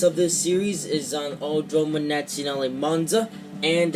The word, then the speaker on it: Autodromo Nazionale Monza: Yeah, I couldn't really pronounce the name of this track, but after hearing the pronunciation of it, you know, in this game, I learned how to pronounce it, so it's Autodromo Nazionale Monza.